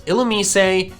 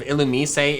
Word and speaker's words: Illumise: Side note, if you think my pronunciation of Illumise is weird and terrible and wrong, I'm like 95% sure that's how they pronounced it in the anime. I'm not 100% sure because I watched that episode as a child, but yeah, I think that's what they call it there.